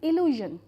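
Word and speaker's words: illusion: और next word is इल्यूजन आई इल्यूजन the sound A एट the beginning is ई और ए में लूजन तो इल्यूजन का मतलब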